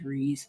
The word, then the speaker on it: Kryze: They think she's Satine Kryze's sister, Bo-Katan Kryze. Right. So, it's not Kryze, it's Kryze. Well, it honestly depends.